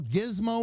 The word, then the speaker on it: gizmo: But when it comes to this, when I spell gizmo with a G, I do not expect it to pronounce it with a J.